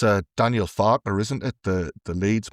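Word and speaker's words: Farke: against it's uh Daniel Faulner, isn't it? The the lead's manager. Yes, it's Daniel Fauler. You've got to say it like that. You can't just say Daniel Far.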